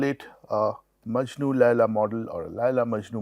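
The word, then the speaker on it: Majnu: in a romantic relationship we call it maju this n is silent and laa so we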